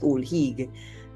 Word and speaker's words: Ol' Higue: Of course, I'm pronouncing it Ol Higue, as the Trini that I am.